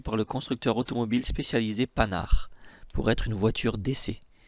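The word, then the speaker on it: Panhard: plus étrange c'est qu'apparemment le nom de panard se prononce avec un n silencieux h aspiré et indé qui tombe complètement attendez quoi même lorsque les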